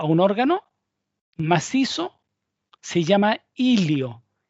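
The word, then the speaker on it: hilio: La zona anatómica del pulmón, por donde ingresan los elementos a un órgano macizo, se llama ilio. Ilio con H, ilio.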